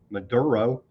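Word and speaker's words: Madero: Spelled a little bit different, but I believe it's the same pronunciation. Maduro there.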